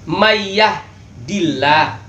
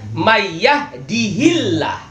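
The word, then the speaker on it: مَن يَهْدِهِ اللَّهُ: Kita sering kalau umpamanya khutbah itu mayyahdillah, kan gitu. Fala mudilla, seharusnya kan bacanya mayyahdihillah.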